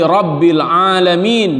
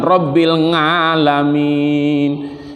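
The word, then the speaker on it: رب العالمين: ada al-hamdu jadi juga alhamdu lillaahi rabbil alamin bukan rabbil ngalamin enggak dengan Lamin ngalamin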